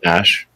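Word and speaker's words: Æ: The AE is like pronounced Ash.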